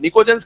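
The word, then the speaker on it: pnicogens: निकोजेंस कहने का मतलब क्या है उस पर बात कर रहा हूं, ध्यान सुनना। पहली बात, पी साइलेंट है, निमोनिया, निकोजेंस, ठीक है, हाँ।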